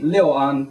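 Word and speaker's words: Lu'an: Um a more the more preferred Mandarin uh or Pona pronunciation would be Leoan because it is from Anway province and the city uh community village of Leo an okay so that gives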